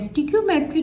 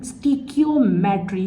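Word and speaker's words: stoichiometry: स्टिकयोमेट्री की प्रोनाउंसिएशन आपकी बुक में वर्ड टू वर्ड जो है शॉर्ट फॉर्म में लिखी हुई है। मैं दोबारा बताती हूं। स्टिकमेट्री क्या वर्ड है ये? स्टकियोमेट्री ये वर्ड है।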